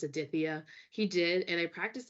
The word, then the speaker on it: Aditya: really struggled with and it was Aditya so it's spelled as a-d-i-t-y-a but there's like that nice th in there and I and I